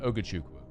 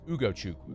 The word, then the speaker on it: Ugochukwu: You flipped the first and the third letters. Did I? Yeah, you did. You said Ugochukwu. It's Ugo Chuku.